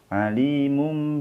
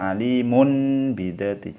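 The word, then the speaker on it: عليم بذات: kedua ini ada tanwin aliimun bidzaati alimum didetik jadi seolah-olah ada mim mati dini di dibaca ngalimun Bingung jadi mingkem mulut minkum seolah-olah mim mati aliimun bidzaati jadi jangan dibaca Alimun bidzaatish Jangan karena ini bacaan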